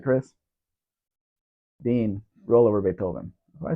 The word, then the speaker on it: Beethoven: It's Beethoven, actually. The H is silent.